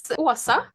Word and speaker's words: Åsa: It's Åsa. The A with a round thing is an O in Swedish. So, it's only in Sweden, so I don't blame you. Åsa.